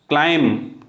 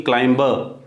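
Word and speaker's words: climb: खत्म CLC chief बढ़ना क्लाइंब ना कि क्लाइंबर फिक्स क्लाइंबर नहीं बोलेंगे क्लाइंब एम्परसंड खत्म हो जाएगा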